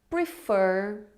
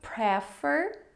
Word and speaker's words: prefer: Em inglês, eles são like, love, enjoy, prefer, não prefer, prefer. A segunda sílaba é tônica, prefer, e hate.